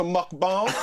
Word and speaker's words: mukbang: What is a mukbang? This whole time I've been sitting here being like, what the hell is a mukbang? Is it a mukbang? Am I saying it right? It's a mukbang.